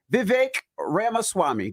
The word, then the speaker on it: Vivek Ramaswamy: And we got a special guest in the building, Vivek Ramaswamy.